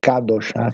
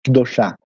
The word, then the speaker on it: Kedoshá: primeiro A perde força, em vez de Kadoshá, fica Kedoshá, né? Porque a última sílaba é forte.